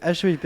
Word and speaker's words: HEIP: e I p déjà ce que je le prononce bien c'est bien et donc hip bah c'est une c'est une très vieille qui